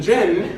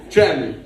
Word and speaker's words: Cem: And Gem is spelled with a C. Gem, like an emerald.